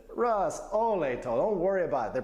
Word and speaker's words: olej to: A lot of words end in J. Have you noticed? I do. It's like a silent J. I'd say Olej? olej, but it's olecho.